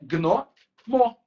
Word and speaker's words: gnomo: Só que assim, ó, aquele i não existe, né? Na prática, o i não tá ali. Então, eu não posso pensar que tem uma sílaba que é tipo g. É gno, mo, certo?